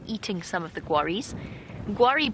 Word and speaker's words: Guarri: Guari, by the way, for newer viewers, is spelled Guarri.